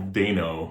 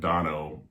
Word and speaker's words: Dano: Paul Dano, I'm going to pronounce his name Dano, even though I've heard it pronounced Dano and Dono before as well, but I'm going to go with the long A.